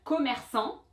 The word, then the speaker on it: commerçant: Another example of that would be somebody like who's selling something, un commerçant, commerçant masculin, une commerçante féminin. So that T was that silent letter.